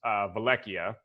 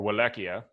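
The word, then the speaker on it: Vallaki: middle of the valley is Vleck iya or will ekia you know depending on how you pronounce that is right back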